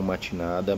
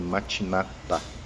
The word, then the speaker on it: Matinata: de ogum matinata tá alguns falam mate nada mas a pronúncia correta é matinata ok ela a gente